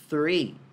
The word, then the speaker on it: three: E a pronúncia disso é three, three, colocando a pontinha da língua entre os dentes lá no TH.